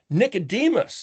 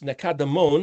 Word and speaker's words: Nicodemus: Hey, remember in John chapter 3 where Nicodemus, Nicodemon, the other way to say his name, he said, Yahusha, we've